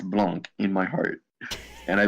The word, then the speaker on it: Blanc: Blanc, as in white in French. Blonde. Blanc. The C is silent.